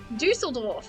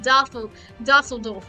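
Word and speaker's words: Düsseldorf: it down since because I didn't know that Dusseldorf was pronounced that way. Because the first time I said it, I was like Dusseldorf, and the one guy who speaks German happened to walk in. He's a teacher, by the way. He happens to walk in and he just shakes his head and he says it's pronounced Dusseldorf, idiot.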